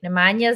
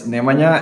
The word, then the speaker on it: Nemanja: It's Nemanja, and inside Balkans is, outside is, I'll say yeah.